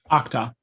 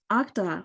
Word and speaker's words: Uqdah: Would you pronounce it for me? Uqdah. Uqdah. Wow, I was way off.